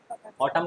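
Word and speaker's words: autumn: ऑटम किसको बोलते हैं? पतझड़। ऑटम एन साइलेंट टेस्ट में ए यू टी यू एम एन ऑटम है ना पतझड़।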